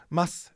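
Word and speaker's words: ます: that they're not saying masu and desu. You know, mas, des, mas, des. You'll hear that even in super high level, polite, professional radio, they're not saying masu, desu.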